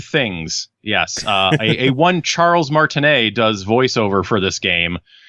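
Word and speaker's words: Martinet: it also made me rise his name is pronounced Charles Martin a not Martin net as I have heard in many places but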